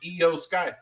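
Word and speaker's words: IYO SKY: I think Rocha's pronounced it wrong for the past 2 years. How dare you? So IYO, so it's Io Sky.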